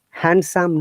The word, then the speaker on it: handsome: D is always silent in these words, like sandwich. If you pronounce it Sandwich. sandwich, it will be wrong. In IELTS Sandwich. exam, the examiner is not going to give good marks for this wrong pronunciation. Handsome, no, handsome, sandwich. And grandfather, not grandfather, grandmother, any word with grand. Grandfather, grandmother, grandpa, grandmom, granddaughter, grandson. No D sound.